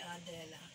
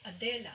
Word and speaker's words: Adela: You don't say Adela. You say Adela. So, the second syllable is accented.